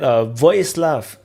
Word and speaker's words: Vojislav: And I want to let Vojislav to introduce himself. He did write J is silent, so I'm not going to say Vojislav, Vojislav.